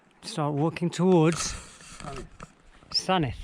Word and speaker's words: Sandwith: right, start walking towards Sanith. Which is spelled Sandwith, Sandwith, but you pronounce it Sanith.